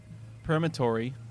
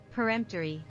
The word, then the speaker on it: peremptory: it is a straight perimetory bidding we'll see how make sure that's the right way to say that word peremptory peremptory peremptory okay her and nope thank